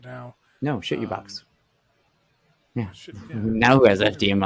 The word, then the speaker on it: CHITUBOX: shit you box. Like wholeheartedly. Well, I mean, come on. Like how else would you not pronounce CHITUBOX? That is shit you box.